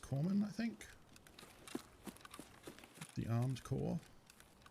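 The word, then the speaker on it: corpsman: supplies weapon military supplies which includes medic or corman right is what medics used to be called it's probably in one army specifically might be like the british name for him it's written like corpsemen but pronounced corman i think the armed core or the marine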